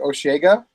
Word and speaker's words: Osheaga: god Oh cam oh I think you pronounce it osheaga osheaga yes it is that all right august though it's it's osheaga but it's fine august third